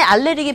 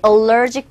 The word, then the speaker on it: allergic: 페니실린에 알레르기 반응이 있대요. 알레르기가 있다고 합니다. Be allergic to. 발음이 또 알레르기. 어디서 나온 발음인지 정말 알 수 없는 그런 발음이 되겠는데 정확한 영어식 발음은 allergic to.